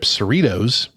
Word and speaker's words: Cerritos: Star Trek Lower Decks is an animated adult series that follows the low-ranking support crew of the starship Cerritos, rhymes with Fritos or Doritos, in the 24th century.